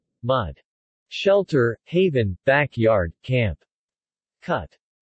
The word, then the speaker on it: mùdh: U. As in put. Mud.